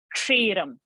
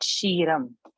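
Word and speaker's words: क्षीरम्: I gave now was kshiram. So what did I say? Kshiram. So this was expected. So not shiram. So pronunciation, you will have to listen.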